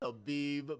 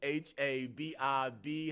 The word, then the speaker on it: Habib: My name is Habib. H A B I B. Habib spelled like hello but with a B.